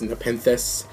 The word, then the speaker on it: Nepenthes: Then the last ones is just one Traptrix Atrax and one Traptrix Nepenthes. That's how you pronounce it, just in case you're wondering.